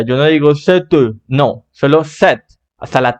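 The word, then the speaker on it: cette: con doble de T set pronunciamos hasta la t porque la e al final es muda la e no se pronuncia Yo no digo set no solo set hasta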